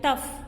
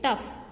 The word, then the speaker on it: tough: In some words, it is pronounced as F, like tough, F sound. Because GH has no sound of its own. So, sometimes it is pronounced as F, like tough. GH is there, but also it is pronounced as only F, okay, tough.